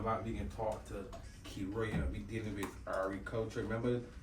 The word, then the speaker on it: Keriah: Keriah, is it correct pronunciation? Yes, please. Keriah.